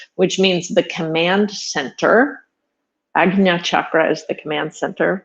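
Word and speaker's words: Ajna: tradition says this is agia chakra and it's not pronounced sorry it's more of a g than a j sound which means the command center agna chakra is the command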